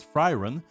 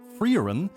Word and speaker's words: Frieren: want to call it fren but I looked it up and it's more supposed to be pronounced like frein although actually it's like a German title right so I'd be